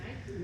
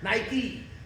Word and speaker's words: Nike: nights almost everybody got on nights you mean Nike the swoosh Nike Nike do we do we call it biky do